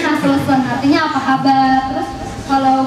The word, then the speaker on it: nasılsın: Di tulisannya itu kalau di Indonesia nasilsin, tapi kalau di Turki I itu ada dua. Jadi I yang ada titiknya sama I yang nggak ada titiknya. Kalau nasılsın kan dibacanya itu I nggak ada titiknya, dibacanya nasılsın, artinya apa kabar.